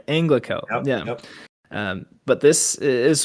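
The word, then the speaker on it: Anglachel: But he asks for a sword, a great sword named uh Anal. Is that how you say it? Anglicel. Anglicel. Yeah. Sorry. Anglicel.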